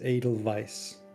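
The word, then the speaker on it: Edelweiss: H by the way that flower is pronounced adal Vice I cannot the I know I know cuz you you've never really heard it but yeah the the W is pronounced as a v yeah medicine we'll try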